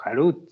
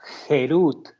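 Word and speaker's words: חרות: No pronuncies esto como tallado o como Harut, sino más bien como Jerut, que significa libertad, ya que ellos han sido liberados del ángel de la muerte.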